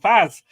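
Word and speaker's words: Faes: I'm still struggling with Faze and Faz and It's definitely Faz. Faz. You keep telling me that, and I keep forgetting. Only because he did a video when he joined us, and he went, "Hi, I'm Faz."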